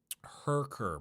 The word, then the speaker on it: Herker: Herker, pronounced like hair, kinda. Herker?